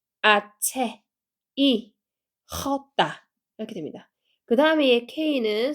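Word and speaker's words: hache: 얘는 체라고 읽어요 아체 여기 보면은이 h 소리가 안 나는 무음이에요 그래서 하체가 아니고 얘 소리가 안납니다 그래서 여기만 아 소리 나죠 얘는 아까 CH에는 치 소리였 얘는에 소리였고 그래서 합쳐서 아체 체가 되는 거고 아 강세 주시면 돼요 아체 이렇게 되는 거죠 그다음에 얘는 소리가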